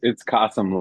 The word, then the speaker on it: Qasim: It's Qasim like blossom or awesome.